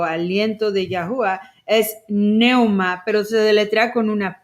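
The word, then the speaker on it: πνεῦμα: La P está muda o silenciada. Nós aprendemos ontem que a palavra grega para vento, para ar, para espírito é pneuma. Só que o P é mudo, então é neuma.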